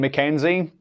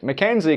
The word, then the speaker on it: Mackenzie: K or sea Kenneth when early Scotch writers attempted to then print ma Kik and preserve its pronunciation they used a y in the middle because that letter best represented the Y sound that you get in GAC but over time some printers started using a zed instead of the Y